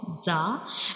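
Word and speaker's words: ظ: So this is the pronunciation of zah and zah is a visel letter.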